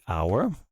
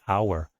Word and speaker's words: hour: So for example, if we say hour, even though it starts with a consonant, we pronounce a vowel, the O. The H is silent, so we don't say hour, we say hour, which is why you use an hour.